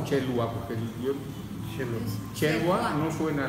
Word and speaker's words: Xelluas: ¿Se pronuncia Chelhua o Chelhua? Porque yo... Chelhua no suena la H como J, no. ¿Chelhua? Chelhua, casi, así. Chelhua.